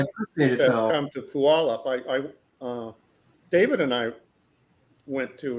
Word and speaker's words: Puyallup: Come to Puyallup.